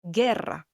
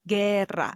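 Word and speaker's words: guerra: For example, gerra, the word for war, gerra. The u there is silent here.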